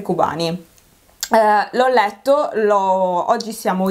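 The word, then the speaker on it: Kobane: fumetto di zero calcare dovrebbe pronunciarsi covani calling google google mi dice cubani come pronuncia io subito cobain e no per kurt cobain e c'è anche una battuta riguardo sul fumetto tra l'altro comunque dovrebbe essere cubani l'ho letto lo oggi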